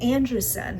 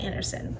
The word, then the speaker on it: Andrewson: It's from Natal Natalie Andrew, not Anderson, Andrew.